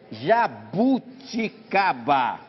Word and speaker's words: jabuticaba: Será que é jaboticaba com O? Assim. Ou jabuticaba com U? Jabuticaba. Ah, não sei. Acho que se eu fosse escrever, eu escreveria com O em vez de U. Jaboticaba, eu acho. Resposta. Tararam. As duas formas estão corretas em português. Pode ser jabuticaba ou jaboticaba.